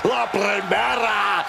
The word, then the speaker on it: La Primera: You need to roll your R's a little bit on that, man. La Primera.